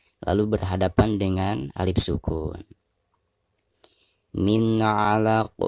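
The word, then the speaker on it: من علق: Min 'alaq. Perhatikan nun sukun atau nun mati lalu berhadapan dengan salah satu huruf izhar, di sini huruf ain. Maka cara membaca nun sukunnya itu harus dizohirkan atau dijelaskan ya.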